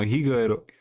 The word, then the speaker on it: Higuerote: I just pronounced it the other day. Higuerote. No, Higuerote.